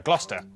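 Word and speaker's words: Gloucester: a couple of Basics sester is pronounced stir Lester wer gluster w at the start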